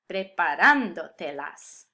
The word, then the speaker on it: preparándotelas: indirect object pronouns, and I still need the accent to keep the emphasis where it belongs. Preparándotelas.